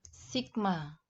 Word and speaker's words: sigma: pie yang Kaguya anak-anak cara membacanya adalah Sigma Hai jadi resultan gaya